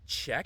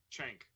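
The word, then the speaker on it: Cenk: And there is a point, I can't pronounce the name of the main Young Turks guy. Czech? Oh, Chank.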